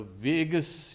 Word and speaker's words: vagus: Now, a monk was saying, okay, I only hope that we don't have the vagus, you can say, nerve. You know, Vegas, Las Vegas also is pronounced Vegas.